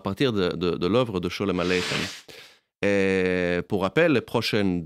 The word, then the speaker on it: Sholem Aleichem: Donc là, ce qu'on vient d'écouter, c'était Shalom Aleichem, et non pas Sholem Aleichem. Donc il y a la chanson et il y a l'écrivain, il ne faut pas confondre les deux. Ça ne se prononce pas pareil.